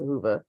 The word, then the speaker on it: Whova: want to do to prepare is download the Hoova app. It is spelled WHOVA.